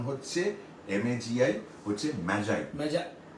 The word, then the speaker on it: Magi: আর আর আর আর ওই শব্দটার উচ্চারণ হচ্ছে MAGI, হচ্ছে ম্যাজাই, ম্যাজাই, ম্যাজাই, গিফট অফ ম্যাজাই।